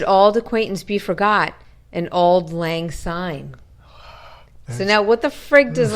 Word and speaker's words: Auld Lang Syne: It's Auld Lang Syne. Spell it out.